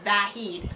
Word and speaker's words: Vahid: at this gathering, and he introduces himself to someone as Vahid. And I said, "Who's that?" He goes, "Oh, that's actually the way you pronounce my name.